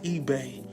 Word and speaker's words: eBay: is up here saying oh the e space Eve and Keith himself has to correct him and let him know that is eBay now for me I'm